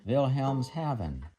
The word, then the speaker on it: Wilhelmshaven: German ship's clock today I believe it's pronounced a Schuman vilhelms Haven one of the mounting